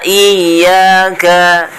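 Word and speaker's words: إِيَّاكَ: Di huruf iya-nya juga nih ada tasdid. Ini harus ditekan bacanya. Iya, seperti itu. Next ayat ke-6.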